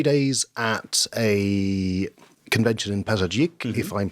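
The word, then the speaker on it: Pazardzhik: So I've done 3 days at a convention in Pazarjik, if I'm pronouncing that correctly.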